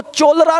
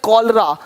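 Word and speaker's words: cholera: पढ़ेंगे इसको चेमिस्ट नहीं पढ़ेंगे केमिस्ट अब देखो चोलरा नहीं पढ़ेंगे चोलेरा इसको पढ़ेंगे कोलरा कोलरा हो गया देख रहे हो है ना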